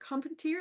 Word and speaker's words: Carpentier: Carpenter, is that how you say her name?